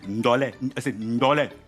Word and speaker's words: Ndolé: Eu vou querer o tradicional e lembrando, gente, que o nome é andolé. Eu fico falando andolé porque eu ainda não peguei a pronúncia correta, mas a pronúncia correta é andolé. Ndolé.